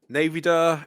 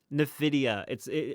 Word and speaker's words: Nvidia: Navida. Is that how you pronounce it? Navida? Nvidia.